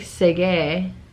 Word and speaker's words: segue: about this really fast i just learned that segway is spelled s-e-g-u-e and that it's not s-e-g-w-a-y and that's a brand like the little scooter thing but i didn't know that it looks like segue but it's segue i didn't i had